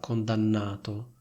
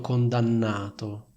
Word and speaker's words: condannato: Sentite come pronuncio la parola condannato. C'è una N molto forte, è stato condannato. La N di analizzato non è doppia e quindi è molto meno forte.